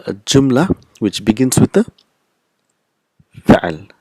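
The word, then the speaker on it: جملة: we will pronounce it joomla the last letter is not pronounced so first joomla will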